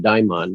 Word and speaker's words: daimon: i talked about how now you and i pronounce it daimon there are different pronunciations but the daimon is